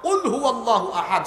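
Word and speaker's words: قل هو الله أحد: আল্লাহু আহাদ এখানে আছে আপনি তো কফের উচ্চারণে কাফ পড়েন তো কুলহু আল্লাহু আহাদ সঠিক উচ্চারণে পড়লে অর্থ হয় হে নবী বলুন তিনি হচ্ছেন আল্লাহ যিনি একক এবং অদ্বিতীয় আপনি যখন কফের জায়গায় কাফ পড়েন কুল আলেমরা জানে এটা আমরের সিগা হয় কুল মানে খাও অর্থ হয়ে যায় যে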